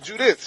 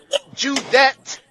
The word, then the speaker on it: Judith: She said cuz I said, "Judith." I thought it was Judis. She said, "No, Judeth."